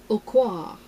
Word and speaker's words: Aucoin: but uh from kevin aucoin a-u-c-o-i-n so i'm sure it's pronounced french but i see all